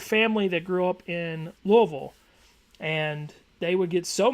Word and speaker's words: Louisville: I had family that grew up in Louisville, and they would get so mad when people would pronounce it Louisville.